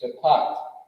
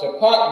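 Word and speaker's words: שפט: that we're doing is shapat. All right. How you do? There we go. I think this is how you do it. Bang, shapat.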